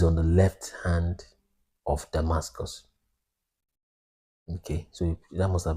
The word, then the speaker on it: Damascus: you interlinear, the way Damascus is properly pronounced. Damascus is Greek sounding. The real way to pronounce Damascus is Damasak or Damasak.